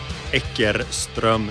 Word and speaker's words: Eckerström: It's very annoying to say that in Swedish. Eckerström. No one has time for that. So I say Eckerström.